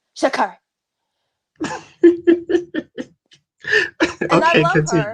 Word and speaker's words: Sha'Carri: It's Sha'carri, Sha'carri," and I Okay, love her.